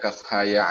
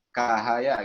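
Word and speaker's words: كهيعص: Makanya nanti pas baca kaf ha ya ain sad jadi kaf bacanya ya. Kaf ha ya. Gitu kan? Makanya dari situ ya. Dari huruf sulati. Kalau nggak tahu huruf sulati, bacanya gimana? Kahaya gitu. Kahaya.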